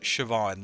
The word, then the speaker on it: Siobhan: Uh, so the the one the one that the one that I've met, Stern pronounced it Siobhan, like PPE said.